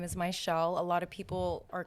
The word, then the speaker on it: Mizziel: So I have two Z's in my name, but it's pronounced like SH.